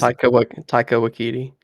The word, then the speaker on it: Taika Waititi: And to keep Taika Wak how do you say his Taika Waititi, yeah is not gonna be directing it.